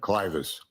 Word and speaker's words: clivus: Am I pronouncing that correctly? Clivus, Thank you.